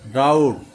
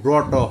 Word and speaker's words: drought: আরেকটা হচ্ছে DROUGHT, ড্রাউট অথবা ড্রটও হয়, এটা দুইটা উচ্চারণ হয়। একটা হচ্ছে ড্রাউট, আরেকটা হচ্ছে ড্রট, পিপাসা।